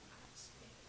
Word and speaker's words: Oxner: Yeah, and I used to be her alderman, and I knocked it, and she pronounced her name Oxner. That's how they pronounce it originally.